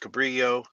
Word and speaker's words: Cabrillo: Paul is at the, we call it Cabrillo. I guess it's supposed to be pronounced Cabrillo.